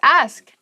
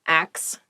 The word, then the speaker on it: ask: The next word is ask. Ask. Please pronounce this correctly. It is not axe.